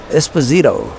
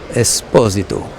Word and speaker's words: Esposito: Or as they say in the United States of America, Esposito. That is how they pronounce the name in the United States of America. Esposito. But my Italian friends tell me that it is Esposito.